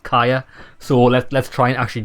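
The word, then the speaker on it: Caja: Okay, so in the first game we called her Katja, because I'm pretty sure when we first met her that's exactly what she said her name was, but it's actually pronounced Kaya.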